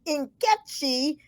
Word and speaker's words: Nkechi: in college I find out it really is inkechi uh in like in puma and the E